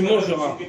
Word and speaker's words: mangeras: Non, tu mangeras. Tu mangeras. Lapin. Bon, là, La pile. le S, pourquoi on ne prononce pas le S de mangera?